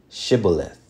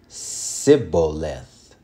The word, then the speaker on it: Shibboleth: Okay, so Ephraim had a certain way of saying Shibboleth with the SH.